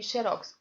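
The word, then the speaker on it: xérox: com a diferença que se você fala xerox você precisa colocar o acento agudo na letra e bom então seria vou colocar no chat o seu pronuncio xerox é esta a escrita porque ela é uma e se tona eu perdi nada enche e aí no chat é paroxítona terminada em x deve ser acentuada o que é preciso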